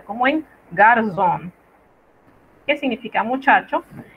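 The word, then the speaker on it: garçon: Por eso, cuando usted la ve escrita, debe pronunciarla como una Z, como en garzón, que significa muchacho, y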